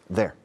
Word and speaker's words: they're: There. The spelling is T-H-E-Y apostrophe R-E. But the pronunciation is there.